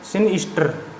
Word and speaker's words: sinister: इसको कैसे बोलेंगे, सिनिस्टर, सिनिस्टर, आर साइलेंट रहेगा, सिनिस्टर।